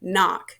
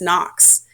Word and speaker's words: Knock: Pronounced N-O-C-K, Knock. There's no S on the end, so please don't call me Miss Knox.